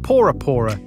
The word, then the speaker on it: Pora Pora: Early visitors misheard the pronunciation of the island as Bora Bora, when in fact it was called Pora Pora, meaning the firstborn island created by the gods.